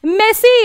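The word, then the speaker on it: merci: मेसी, मेसी, ये सबसे पहले वर्ड सीखते हैं लोग, मेसी यानी कि थैंक यू। जी हाँ, ये आपका जो प्लेयर है ना मेसी, उसी की तरह इसकी प्रोनाउंसिएशन होती है मेसी।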